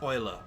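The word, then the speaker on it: Eule: I've got to remember it's pronounced oiler. It's because it's German.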